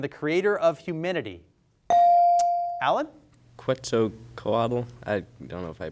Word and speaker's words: Quetzalcoatl: Quetzalcoatl. I don't know if I pronounced that right.